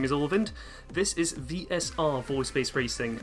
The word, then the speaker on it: Ulvind: 100% easy, ran by Ulvind. I am sorry if I mispronounced that. But yeah, good luck on the run and have fun. Yeah, you didn't. You actually pronounced it correctly.